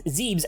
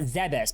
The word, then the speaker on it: Zebes: Point being, with the Zesians being at the center, I'm going to pronounce that as Zezians because I pronounce that as Zees, not Zebes, because that's stupid.